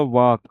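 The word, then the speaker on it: walk: यहां पे क्या होगा वाक वॉक वाल्क ना पड़ने लगना। एल साइलेंट है।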